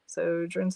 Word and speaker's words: Sjögren's: Sjögren's is how you say it.